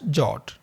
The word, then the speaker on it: JWT: In this particular tutorial, we are using the standard JSON web token in short pronounced as jot.